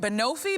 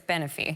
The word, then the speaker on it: Benefi: Or is it Benofi? Benefi? How do you say it? I thought it was Benofi, but it's Benefi.